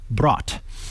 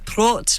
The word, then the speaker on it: Brot: How do you say bread, brot? I check that. I think you mean brot, Mikah. Brot, thank you. It should be an O, brot. not an A.